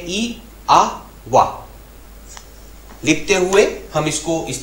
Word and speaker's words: IAVA: लिखते हुए हम इस सिंबल की स्पेलिंग लिखते हैं IAVA, लेकिन बोलते हुए हम इसको बोलते हैं ई आ वा।